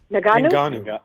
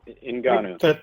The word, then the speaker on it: Ngannou: Ngannou. Ngannou.